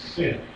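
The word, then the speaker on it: שׂין: When it's on the left-hand side, it's sin. It's pronounced sin. Sheen and sin.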